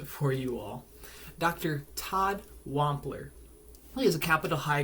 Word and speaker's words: Wampler: Todd Wampler. I'm pronouncing that correctly.